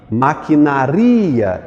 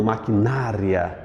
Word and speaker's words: maquinaria: coloque um acento aí maquinaria e não maquinária maquinaria é mais forte igualmente a Normandia o